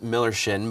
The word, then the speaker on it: Millerschin: for those of you who don't know it's pronounced Miller Shin but it's spelled Miller's chin correct so if